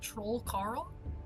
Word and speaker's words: Troll Carl: Is it spelled troll Carl? Troll Carl. Yes, but less of a pause. It's just Troll Carl.